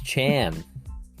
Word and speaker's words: Chan: name to be and he actually said Chan but someone couldn't pronounce it Jesus they just misspelled it on the sheet and they're like okay Mr Han he's like it's Chan like no not anymore